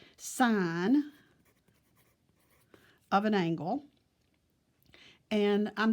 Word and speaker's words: sin: deals with and the first one is called sine of an angle and I'm just going to put the son of I'll just put sine of an angle it's probably the easiest way